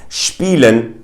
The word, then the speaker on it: spielen: Another hint, if you see an SP or an ST, the S will generally be pronounced as a sh. For instance, in words like spielen, which means to play, or in words